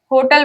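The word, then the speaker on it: hotel: होटल, अब कई लोग इसमें निकालेंगे उच्चारण में होटल, हा से, लेकिन इसमें होटल में एच हमेशा साइलेंट होता है, इसलिए इसको पढ़ते हैं होटल।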